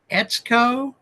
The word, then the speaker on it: Etsuko: times so far but she says it rhymes with let's go so if I mess it up you guys can call me and say hey dude be more respectful etco marito is it it's